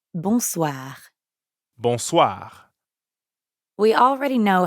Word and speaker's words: bonsoir: is that means evening the n sound is kind of like saying ah at the dentist ah but soi also